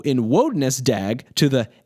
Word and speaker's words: Wodnesdaeg: The pronunciation of Wodnesdaeg differs from the pronunciation of Wednesday in two obvious ways. First, the initial vowel sound in Wodnesdaeg is an O sound, not an E sound. And second, the D in Wodnesdaeg, which has fallen silent in Wednesday, is still pronounced.